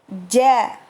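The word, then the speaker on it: ج: Nah, hati-hati huruf jim ini jangan dicampur seperti huruf C ya. Ja. Karena makhrajnya kalau misal terdengar seperti huruf C, berarti pengucapannya lidah terlalu ke depan atau bahkan terlalu ke belakang.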